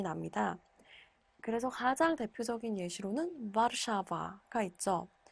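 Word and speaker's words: Warszawa: 그래서 가장 대표적인 예시로는 와르샤바가 있죠. 와르샤바가 와르샤와가 아니라 와르샤바인 이유가 바로 여기 이 영어로는 W지만 폴란드어로는 무로 읽히기 때문에 와르샤바, 우, 보다, 보다 이렇게 읽힙니다.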